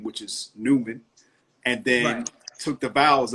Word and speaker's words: Newman: it as the basis of how you actually pronounce my last name which is Newman and then took the bowels out and then